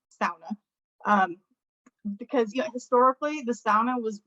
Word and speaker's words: sauna: americans would say the sauna but it's pronounced sauna so the first syllable rhymes with like cow sauna um because you know